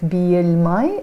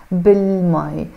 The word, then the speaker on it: بالمي: Bi il mai, but I don't pronounce it bi il mai. I join them together and I say bil mai.